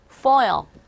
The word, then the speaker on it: foil: 뭐의 어떤 면, 어떤 쪽, 알루미늄 포일, 우리가 흔히 말하는 쿠킹 호일이라고 하는데 호일이 아니라 foil 이렇게 발음하시면 돼요.